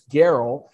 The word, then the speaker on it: Gerl: Because nobody would look at it and pronounce it correctly without knowing it's Gerl.